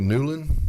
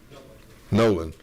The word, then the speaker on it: Nolan: All right, next we have Newland. Hope I pronounced that right. Nolan. Oh, your O looks like a U.